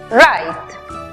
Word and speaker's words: write: Tenemos W muda antes de R al comienzo de la palabra. También vemos que termina en E muda al final, precedida de una consonante. Aplicamos entonces el sonido abierto de la I. La pronunciación final para la palabra escribir es write.